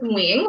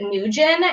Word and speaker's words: Nguyen: name and it's it's wing right if you pronounce it in vietnamese it's wing but for some reason like in america people pronounce it nujin and they pronounced it